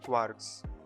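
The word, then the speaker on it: kwargs: name is patel okay so this is known as keyword argument and we pronounce this as quarks okay so keyword argument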